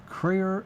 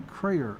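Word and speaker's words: Kreher: Now, I'm spelling Crayer because I'm bet the farm, or them, that I'm saying it correctly, but it's K-R-E-H-E-R. Crayer or Crayer.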